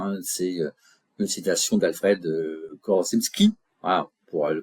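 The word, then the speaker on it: Korzybski: La carte n'est pas le territoire hein, c'est une citation d'Alfred Korosski. Voilà pour le prononcer correctement.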